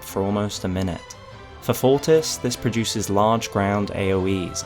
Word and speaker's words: Fortis: And uh the scorpion is likely pronounced fortis by the way, like the Latin word for strong.